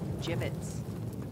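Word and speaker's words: gibbets: Look, Avery had some gibbits left over. Jibbits? What? It's pronounced jibbits.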